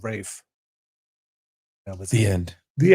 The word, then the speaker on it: Ralph: I just saw some uh stupid video about why he pronounces his name like that and I was like, "Oh, this could be interesting." And then he was just like, "It's like an old English way."